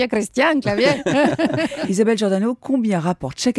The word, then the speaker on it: Christian Clavier: Et voilà, et les Espagnols maintenant connaissent le nom de Christian Clavier. Elle le prononce pas comme ça. Christian Clavier.